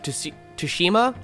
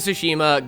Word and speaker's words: Tsushima: Ghost of Tsushima. Yeah, the T is silent. Ghost of Tsushima got Best Art Direction.